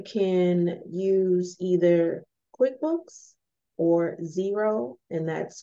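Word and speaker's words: Xero: Two, you can use either QuickBooks or zero, and that's called that's spelled X-E-R-O.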